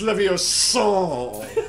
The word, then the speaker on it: Leviosa: It's pronounced Leviosa.